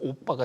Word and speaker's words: OBBA: 이게 오빠가 뭐 언니 오빠를 얘기하는게 아니고 OBBA가 이제 그대로 발음으로 하다 보니까 오빠가 되는데요.